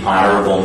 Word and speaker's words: honorable: But these are among the few words in English that have a silent H sound. Most H's in English are pronounced, but in these words, you don't pronounce the H.